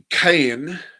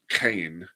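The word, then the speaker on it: Caen: Um, so, so Kayen, Kayen, there's actually there's so many different pronunciations. Can I've always heard like Kane.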